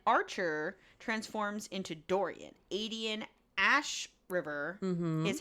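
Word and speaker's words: Ashryver: him brutally and Archer transforms into Dorian Aden Ash river is how she pronounces it in the B Ash River yeah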